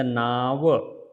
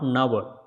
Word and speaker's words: Nava: Yeah, so it is not Nava, it is a Naava. Naava is the boat. In Sanskrit, Naava is the boat, not Nava.